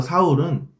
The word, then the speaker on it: 사울: 여기서 사울은 히브리식 발음이고 바울은 헬라식 발음입니다. 사울과 바울은 즉 동일인물이에요.